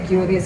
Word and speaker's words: QRIS: Kan kita masih banyak yang mungkin bilangnya qris gitu. Saya juga kadang masih keliru. Ya. Tapi qris ya yang benar untuk membacanya.